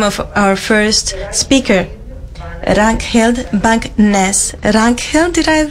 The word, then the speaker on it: Ragnhild Bang Nes: And I've learned how to say the name of our first speaker, Ragnhild Bang Nes.